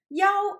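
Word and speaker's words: 要: 腰 is pronounced in the first tone rather than the normal false tone, meaning promise rather than must.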